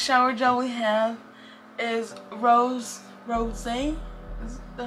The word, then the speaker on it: Rosé: And next shower gel we have is Rose. Is that how you say it? Rose Champagne. The keynotes are Sparkling Rosé, Citrus Splash, and Apple Blossom. And it's shower gel. It's pronounced rosy.